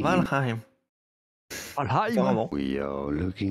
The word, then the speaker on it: Valheim: Tu as dit Valheim. Moi, je prononce Valheim.